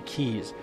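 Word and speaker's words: quays: roads and uh Keys someone also said that quaz the way I pronounce quaz is supposed to be Keys sounds weird to me so roads and keys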